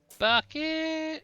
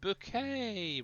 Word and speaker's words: Bucket: as well Cod Hala bucket it's pronounced bouquet remember H oh I